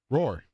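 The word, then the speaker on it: Rohr: What is it? Roar. Spelled the same way? R-O-H-R.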